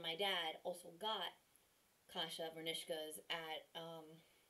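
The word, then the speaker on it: kasha varnishkes: Vernikish. Or maybe it's vernishkas? I think it's vernishkas. That's it. I'm an idiot. I always pronounce that wrong. Hold on. Hold on. Hi. I'm here again. I have Kasha Vernishkas.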